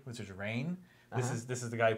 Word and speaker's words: Rainn: And he complains about people saying his name wrong all the time, which people think it's Ryan, right? And it's not.